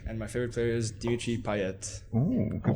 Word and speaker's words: Dimitri Payet: I support Marseille, and my favorite player is Dimitri Payet. Ooh, good pronunciation there.